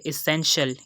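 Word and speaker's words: essential: इसके बाद second example है एसेंशियल। यहाँ भी हम देख सकते हैं कि TI जो है वो A को फॉलो कर रहा है, तो यहाँ भी हमने इसकी आवाज़ को शीन से प्रोनाउंस करना है।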